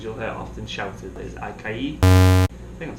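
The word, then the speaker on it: açaí: So when you're on the beach, one of the things you'll hear often shouted is acai. I think I'm saying it right. Acai.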